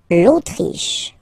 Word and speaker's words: Autriche: L'Autriche. Okay, remember, sh, sh here.